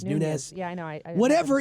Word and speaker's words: Nunes: Not only with the, what is it, Nunes? Is that how you pronounce Nunes, it? Nunes.